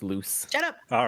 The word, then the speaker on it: Luc: It's Luke. It's French. I'm pronouncing it Luke. Frick you. That's how it's said in French. Yeah. I'm pretty sure it's loose.